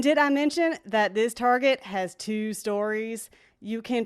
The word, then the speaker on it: Target: i'm just kidding y'all it's pronounced target i know we speak french around here but we ain't that french y'all so targets always got